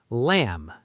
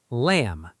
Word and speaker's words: lamb: Lamb. Say it. Lamb. Silent B.